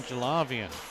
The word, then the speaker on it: Jalavian: Apologies, I was told Archer's pronunciation once. It was wrong. Now the correct pronunciation, Jalavian.